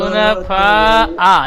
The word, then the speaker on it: حنفاء: وما أمروا إلا ليعبدوا الله مخلصين له الدين حنفاء يقيموا الصلاة ويؤتوا الزكاة حنفاء يقيموا الصلاة হুনাফা এই হামজাটি পরিষ্কার। হুনাফা হামজা জবর حنفاء ويقيموا الصلاة ويؤتوا الزكاة حنفاء ويقيموا হুনাফা এই হামজাটি পরিষ্কার উচ্চারণ হয় না।